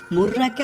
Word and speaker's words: মীরা: অন্য সূত্রে মুর্রাকে আসলে একজন জিন রানী হিসেবে বর্ণনা করা হয়েছে, এবং সেক্ষেত্রে নামটি মীরা হিসেবে উচ্চারণ করা হয়।